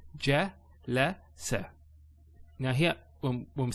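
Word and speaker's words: جَلَسَ: So ja, la, sa.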